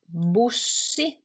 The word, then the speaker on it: bussi: Bussi, We pronounce it differently. We don't say bus because in Finnish you read what you see. You actually read the sounds as the letters are, as the sounds of the letters are.